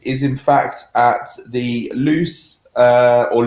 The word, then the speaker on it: Loose: so andy is is in fact at the loose uh or lose is how it's pronounced valley conservation area uh which is in